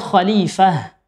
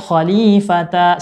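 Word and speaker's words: خليفة: Kita baca khalifah, bukan khalifata, salah.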